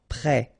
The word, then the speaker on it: prêt: Final T not pronounced. E accent circonflexe like that phonetically gives you the E sound. Prêt.